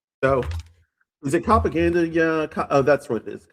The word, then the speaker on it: Copaganda: So, is it Copaganda? Yeah. that's what it is. Copacabana. Copacabana. Yeah. Yeah, cuz it would rhyme with Copacabana, but there's a C there, yeah.